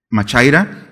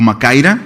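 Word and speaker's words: μάχαιρα: Es decir, esta palabra espada que encontramos en este texto, la han escuchado antes, es machaira o macaira, se puede pronunciar, y es una espada corta, 30, 40 centímetros, bueno, ya encajada, sí se ha de sentir, ¿no?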